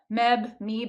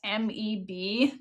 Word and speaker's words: Meb: I read it on the Meeb app. I still don't know how to pronounce the damn thing. It's MEB.